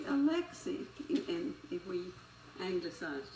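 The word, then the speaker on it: Alexei: instance oh yo yoshi now that is the russian e so it would be alexi and if we angle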